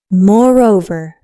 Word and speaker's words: moreover: Moreover is moreover. Again, that R sound matters.